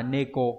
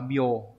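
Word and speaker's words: 猫: Đọc là âm khương là neko đúng không nhỉ? Neko. Và âm gì nhỉ? Âm âm onyomi cũng đọc là bio.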